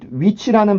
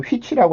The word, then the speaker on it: which: 그래서 이 위치라는 발음을 아무리 제가 가르쳐줘도 아직도 휘치라고 하시는 분들이 계십니다.